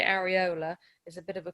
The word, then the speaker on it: areola: Now, sometimes that's pronounced in different ways. Sometimes it's called the areola, sometimes it's called the areola. I say areola.